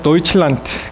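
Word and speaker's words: Deutschland: 그래서 저머니를 독일 사람들은 도이칠란트 그렇게 발음하잖아요.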